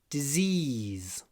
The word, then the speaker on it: disease: А когда вы говорите disease, можно это произносить с закрытым ртом. Disease. Но в этом слове много «я». Disease, потому что в конце этого слова «si» произносится «з». И получается disease в конце. А вот даже «з» в конце.